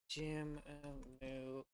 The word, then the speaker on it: Jimmu: Is I pronounce his name Jimmu? Like the first emperor of Japan. Jimmu.